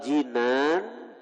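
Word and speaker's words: جِنان: Wal janani, janan bacanya lah hati, artinya kalau janan hati. Kalau jinan baris di bawah, jinan itu surga. Jannah, jannatani, jinan. Jadi bahasa Arabnya beda baris saja lain arti.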